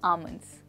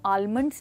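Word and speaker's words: almonds: उसी सिचुएशन में आप कह सकते हैं I don't like to eat bitter आमंड्स। एंड दोस्तों, यहाँ पर हम आलमंड्स नहीं बट आमंड्स कहेंगे, तो यहाँ पर एल जो है वो है साइलेंट।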